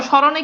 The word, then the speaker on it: স্মরণ: এখন দেখেন তো স্মরণে কি ম আছে, মানে মফালার উচ্চারণ আছে, দেখেন মফালার উচ্চারণ নাই।